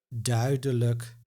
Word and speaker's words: duidelijk: But the exception, if the syllable with I plus J is used in the unemphasized suffix like or luk, you will hear a so-called schwa sound. Moeilijk, duidelijk, and one of the